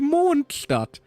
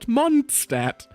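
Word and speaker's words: Mondstadt: It's technically Monstat, not Monstat.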